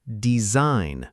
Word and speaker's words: design: And design is pronounced design, with that g totally silent again.